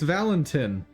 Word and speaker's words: Valentin: It's Valentin. Yes, I know that sounds like I'm mispronouncing it, but I am not. He wasn't cool enough to have an E at the end of his name.